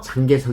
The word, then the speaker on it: 장제스: 지금의 대만으로 쫓겨나게 됩니다 장제스는 우리나라 발음으로 장개석 이라고 불리는데요 일제강점기에 우리 임시정부를 많이